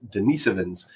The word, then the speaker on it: Denisovans: curious species called the denisovans or sometimes pronounced denans um depending on what part of the world you're from uh and these are